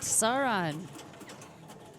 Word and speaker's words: Sauron: All right, Sauron. Nice. That's awesome.